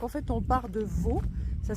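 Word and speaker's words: Vaulx: Donc en fait on part de Vaux. Ça s'écrit V-A-U-L-X.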